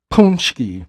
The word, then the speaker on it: paczki: Mind you guys, when you see these in the store, it's spelled p a c k z i, but it's pronounced paczki.